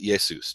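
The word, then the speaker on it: Iesous: a J in English nobody pronounced it Jesus they pronounced it yeah sous just like in Greek over time people who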